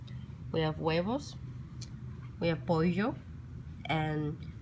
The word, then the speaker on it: pollo: Proteins, proteína, we have pescado, we have huevos, we have pollo, and the double L in Spanish is pronounced as a Y, not polo, it's pollo.